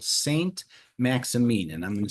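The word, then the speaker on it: Saint-Maximin: south of France in a little village called St. Maxamine. And I'm going to spell that for you. Saint M Axi M I N. St. Maximine.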